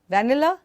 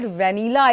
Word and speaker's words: vanilla: cream available vanilla yeah vanilla am I correct well the flavor is correct the pronunciation is vanilla vanilla can you please say vanilla it is not vennila Escrima but when say